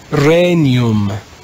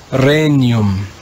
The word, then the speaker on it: regnum: sound changes we would read this word in church latin as renum in classical latin it would be regnum in church latin it's renyum the sixth change in